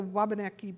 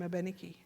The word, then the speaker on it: Wabanaki: and they say aubenaki the French had no sound for w so wabaneki became a beniki and so they're all